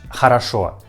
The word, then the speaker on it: хорошо: Pay attention that this word has two letters O. I mean first two letters O, but we pronounce these two letters O like a.